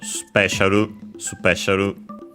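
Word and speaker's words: スペシャル: By the way, accent on the P as expected, just like in English. And the U in su is barely heard if at all, so special.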